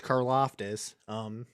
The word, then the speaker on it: Karlaftis: George Karlaftis.